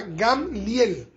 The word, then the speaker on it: Gamaliel: era discípulo de gamliel que la reina mana traduce gamaliel ya eh gamaliel se pronuncia gamliel y y gamliel era